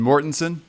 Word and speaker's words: Mortensen: soft G. okay. Yeah, that's even prettier. That's better. That's great. And Mortensen?